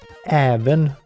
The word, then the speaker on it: även: One is an A with dots over and one is an O with dots over. Obviously, but when you need to pronounce it, not like when, it's just, you need to make a difference when you pronounce them. And yes, as in även or över.